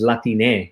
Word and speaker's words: Latine: use in Spanish because how do you pronounce something with an E? There's no way to do that. The solution to that, of course, is Latine with an E.